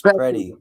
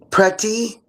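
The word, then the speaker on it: Pretti: But I'm also She's like um pretty prety. You say the T like that. You can say pretty.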